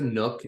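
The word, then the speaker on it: nuc: buy a local one it is a Nook and and it's spelled n-u-c basically it's a half a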